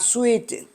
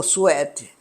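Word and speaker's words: Swete: Há uma explicação que nos parece lógica e mais correta, feita por um homem chamado Sweet, ou Suete, depende da pronúncia.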